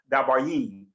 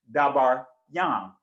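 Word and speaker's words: דברים: In modern Hebrew, they say it is pronounced dabarim, but it's dabar yam.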